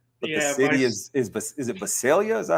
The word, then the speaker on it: Visalia: But the city is it Visalia? Is that how you pronounce it? Visalia, yeah, that's Central Valley.